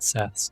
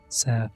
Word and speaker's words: Seth: I think Seth is pretty late because in Coptic it's spelled with an S sign, an I sign, or no, an E sign, and a letter borrowed from Greek, a TH. So I guess some people started saying Seth, like the, instead of Set.